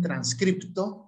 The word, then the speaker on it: transcripto: Y allá en Argentina dicen transcripto con P y lo escriben, pues que también lo pronuncian, o inscripto. En cambio en Venezuela no decimos eso, decimos inscrito sin P y ni siquiera la pronunciamos.